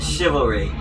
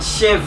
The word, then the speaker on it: chivalry: a cob, a fucking Did you guys pronounce the ch in chivalry like the CH from chocolate? No, chivalry. Chivalry, not chivalry. Chivalry. Chivalry. Shiv like a prison knife.